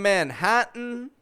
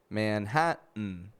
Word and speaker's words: Manhattan: So when an unstressed syllable begins with the letter T and ends with the letter N, we will usually make a reduction between the 2 letters and only pronounce the N sound.